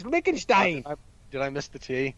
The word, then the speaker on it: Liechtenstein: it says lichenstein it's lichtenstein and it's a real place don't put a tea in there when there's no tea it's lickenstein did i miss the